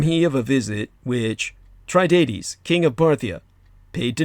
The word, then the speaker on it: Tiridates: Because of this god king, Tiridates, actually, the correct Parthian pronunciation, as opposed to the Persianization that I've been using. Tiridates, the king of Parthia, paid visit to Nero.